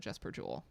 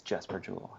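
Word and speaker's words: Jesper Juul: I thought it was Jesper Jewel this whole time. I just assumed. Yeah. Not maybe the YouTube video is wrong. Who knows? But Yeah, we looked definitely up could like be. how to pronounce, and the Uh, YouTube video said Jesper Jewel. there So are people on the internet saying it's Jesper Jewel.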